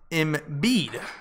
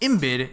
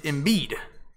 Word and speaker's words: Embiid: It's pronounced Embiid. Oh, not Embiid. It's Embiid.